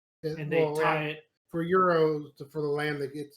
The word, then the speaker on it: gyro: It's euro. You said it right. Euro. G silent.